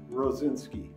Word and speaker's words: Rosinsky: my name is rozinski and i've always had problems pronouncing my name when i was a little